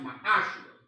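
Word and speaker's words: מעשר: It means 10th in the Hebrew, and it's pronounced ma'ashra.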